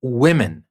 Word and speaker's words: women: plural w m n we pronounce it like women with a short I in the place of the O wo women so pay attention into